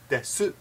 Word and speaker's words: desu: But because of the hiragana, the way things are spelled, su, the hiragana letter su is made up of consonant and vowel, so desu ka. And if you pronounce very formally and you know, nice, Genki desu ka, but you won't hear